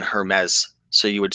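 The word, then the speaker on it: Hermès: any bites yo raiken the French don't pronounce the s in Hermes so you would say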